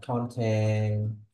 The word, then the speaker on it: content: say the job of content creator then it should be content the first syllable but if the stress